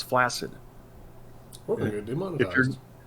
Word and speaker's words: flaccid: There's a word called flaccid, right? That for some reason everybody and their brother pronounces flaccid.